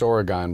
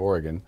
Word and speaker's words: Oregon: again actually my hometown is Oregon Wisconsin it's pronounced Oregon back there instead of Oregon uh-huh it's about five miles south of madison